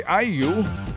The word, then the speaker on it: IU: na si How do you pronounce this IU IU Okay alala ko Anyway sa kanya pong concert noong araw ng Sabado Sa tindi ng sigawan Sinabi po ni ni IU na Pilipinas ang isa sa kanyang paboritong puntahan